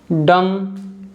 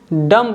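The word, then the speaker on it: dumb: Examples हैं कॉम, डम। इसको हम डम्ब नहीं पढ़ेंगे क्योंकि जो बी है यहाँ साइलेंट है।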